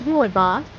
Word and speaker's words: rooibos: speak correctly is not just about getting the pronunciation right it's about appreciating the culture and Heritage behind this amazing team remember it's Ro boss and his craft is you'll be a pro